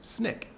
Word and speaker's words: SNCC: Stokely Carmichael was the chairperson of the Student Nonviolent Coordinating Committee, which is acronym is pronounced SNCC.